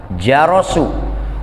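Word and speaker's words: جَرَس: Kalimat jaros itu dipatahkan jimnya dan dipatahkan ro-nya. Jadi bacanya apa? Jarosu.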